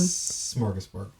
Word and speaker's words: smörgåsbord: Smorgasbord.